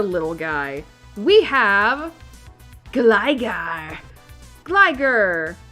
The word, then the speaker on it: Gligar: guy we have Gligar gler actually I think it's supposed to be pronounced as Gligar all right so gigar